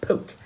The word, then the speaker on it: Polk: quite superior James Knox Polk now I know it looks like Polk but from the hill country of tennessee where our man comes from it would be pronounced more poke now this is stay